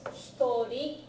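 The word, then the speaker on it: 一人: The pronunciation is interesting because if it's one person, you pronounce this hitori.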